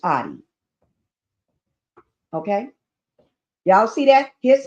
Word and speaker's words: Oddi: Some people pronounce his name Odie, but it's Audi.